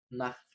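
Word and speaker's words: Nacht: حرف التسي ها بيتنطق خ لو سبق بأربع مقاطع صوتية. أول مقطع حرف الآ، حرف الأو، حرف الأو، حرف آ، أو مقطع أو. يبقى أنا عندي كام مقطع يخليني أنطق خ؟ قولهم ورايا تاني: آ، أو، أو. طيب مثال على حرف الآ،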